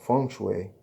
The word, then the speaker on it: feng shui: The Chinese system of geomancy, feng shui, pronounced feng shui, is the science of understanding the dragon currents, which exist beneath the earth.